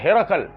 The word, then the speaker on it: ہرقل: گیا حجاز میں، اور ہرکیولس، سنتے نا نام، عربی تلفظ ہے ہرقل، ہرقل نے اپنے کمانڈر